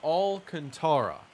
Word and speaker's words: Alcantara: two now from alcantara i've heard his name pronounced so many baseball reference says alcantara there we go i have